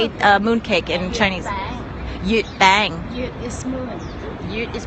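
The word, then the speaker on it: 月餅: Yut bang.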